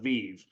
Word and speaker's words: VIIV: it spoken out loud the proper pronunciation is VI uh it is a verb and it comes from the Latin where it has the meaning of Life come alive Lively uh we use